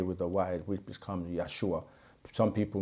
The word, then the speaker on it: Yeshua: replace the J with the why which becomes Yeshua some people mispronounce it and say yahushua and all kinds of names but the thing